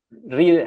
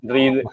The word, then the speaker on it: Reed: Vale aclarar que irónicamente Reed en inglés sería como leer, ¿no?